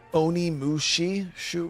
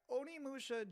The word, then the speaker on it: Onimusha: Onimushi? I don't know how to pronounce that. Really, bro? Yeah, Onimusha just Onimusha.